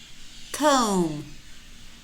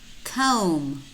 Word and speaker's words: comb: tune lamb Bom Bom comb comb climb climb notice how many of these words we have em B clusters and in these words normally the B is silent we only pronounce that